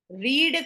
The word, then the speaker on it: read: है, तो इफ शी रीड का पास्ट टेंस इज रेड, हम उसको प्रोनाउंस रेड करते हैं, तो इफ शी रेड फिक्शंस।